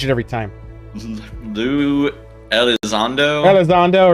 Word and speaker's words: Elizondo: louie i can't i can never say is el dondo did i say his name right i think i always butcher his name i change it every time lu elizondo elizondo right that's it yeah i'm guessing yeah sounds